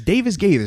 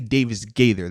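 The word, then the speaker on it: Davis-Gaither: it up bro yeah it's davis gators i can't i always want to flip it it's definitely davis gather though if i can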